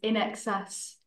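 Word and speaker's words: INXS: feel like so Allison hasn't an in excess that's how you pronounce it right in SN um a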